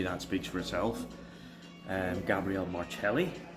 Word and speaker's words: Gabriel Marcelli: so um maybe that speaks for itself um Gabrielle marelli it's the correct pronunciation um round one four marks round two